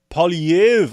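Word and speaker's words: Poilievre: opposition leader conservative Pierre PV I had actually had to find a place that pronounce his name I'm still getting it wrong but apparently they don't pronounce the r at the end uh don't know why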